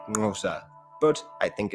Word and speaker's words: Xhosa: Hence, Xhosa is usually pronounced something like Ngosa.